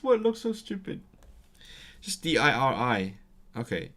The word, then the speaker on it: diri: Just D-I-R-I. Okay, it comes from rhif, which means number. So di-rhif is countless. But then they don't pronounce the ending v, so it becomes a diri.